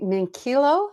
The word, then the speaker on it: Minchillo: Well, we're back with Donny Minchillo.